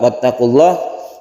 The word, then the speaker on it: واتقوا الله: Wattaqullah kita baca sebagai mad alif lisukun, ini dipanjangkan sampai 3 alif boleh.